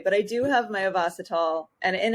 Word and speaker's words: Ovasitol: Ovasitol is the correct way to say it, we've learned. However, I was pronouncing it Ovasitol for the longest time, and I confused Kylie.